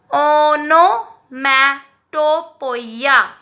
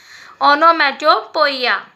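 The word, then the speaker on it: onomatopoeia: तो हिंदी में अगर उसको प्रोनाउंस करना हो तो कैसे करेंगे? ओ नो, ना पे नो, ओ की मात्रा, ठीक है. ओनोमैटोफोइया. क्या कहेंगे? ओनोमैटोफोइया, या पोइया भी कहते हैं हम, पोइया कहेंगे. ओके, ओनोमैटोपोइया.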